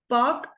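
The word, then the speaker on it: Palk: बोलते हैं पार्क straight पार्क straight P ए एल के okay एलस silent okay पार्क straight अच्छा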